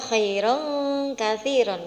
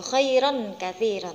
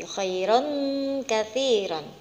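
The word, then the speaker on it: خَيْرًا كَثِيرًا: tanwin bertemu dengan gaf Bacanya adalah khairon kasiron enggak boleh Airon kekafiran Tapi khairon kasiron untuk selanjutnya ada Ayun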